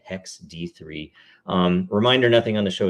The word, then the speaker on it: 0xd3: That's really how you pronounce it, apparently, Hex D3.